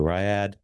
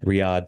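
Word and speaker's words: Riyadh: Lessman was formerly charged with investigating the possible link between Rya, and I mispronounced that too, Riyad. Riyad. Riad, thank you.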